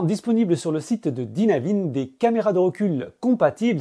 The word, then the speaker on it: Dynavin: pense de ce système de chez dynavin ou Dynavin si t'as envie de le prononcer à la française en plus des atouts